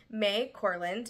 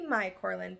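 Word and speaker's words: Mai Corland: title this is by may corand it might be my corand but I believe it's pronounced May corland and in this book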